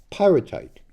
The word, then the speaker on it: pyrite: and it didn't get there, but this is pyrite.